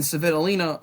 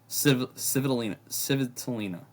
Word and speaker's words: Svitolina: And then Svitolina, who I back against a lot of players,